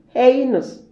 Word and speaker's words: heinous: And the E-I in B is pronounced as A, heinous.